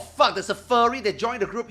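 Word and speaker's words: phở: So you're telling me this one is not called fire. This This one is called fur. Bro, we need to we need to YouTube this. How to correctly pronounce for f far f.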